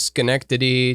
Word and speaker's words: Schenectady: to plug the mopco m-o-p-c-o improv theater in schenectady new york what and it's connected yeah cool have you ever banned never heard of it didn't know there's such thing as schenectady didn't know you could even arrange letters in